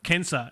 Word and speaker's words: censor: going to ask about the c pronounced as k thing uh so seriously does that mean the sensor is in fact pronounced like uh cancer and the answer there is is actually yes that is correct and i've been i've actually been saying it well wrong really uh well it's